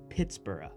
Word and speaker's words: Pittsburgh: named this new town Pittsburgh pronounced and spelled like the City of Edinburgh in his homeland the town of Pittsburgh